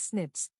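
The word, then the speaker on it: SNPs: dna differences s p's single nucleotide polymorphism pronounced as snips occur in humans this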